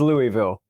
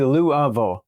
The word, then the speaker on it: Louisville: Nobody here says Louisville. They squash it down to roughly Louisville, and the general principle seems to be the fewest syllables you can get away with.